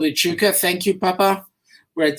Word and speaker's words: Echuca: The word is Echuca. It's spelled E-C-H-U-C-A, Echuca.